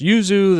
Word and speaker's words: yuzu: Jumping over, here's, I guess it's pronounced yuzu.